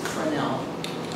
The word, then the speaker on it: Fresnel: Now, Point Montara's beacon was automated in 1970, and the fourth order Fresnel lens, and it is pronounced Fresnel, the lens was built by a French physicist.